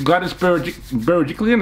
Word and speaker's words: Berejiklian: And again, Gladys Berejiklian, is that how you pronounce her name?